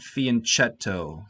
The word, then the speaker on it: fianchetto: a fiancee it's not fianchetto the ch is pronounced like a k so this bishop here